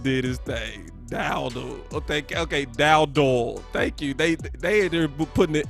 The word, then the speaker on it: Dowdle: Is it Dudale or Doodle? Because it looked like Doodle. That's what it looked like. If I butchered his name, y'all let me know. It's Dowdle. Is it Dowdle?